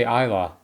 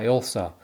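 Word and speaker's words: Ilsa: uh what happened to Elsa's body am I pronouncing her name right I wanted to say Isa yeah Elsa and why did Ethan let Paris live and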